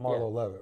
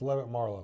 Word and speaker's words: Levitt Marlowe: It's not Marlowe Levitt, right? It's Levitt Marlowe.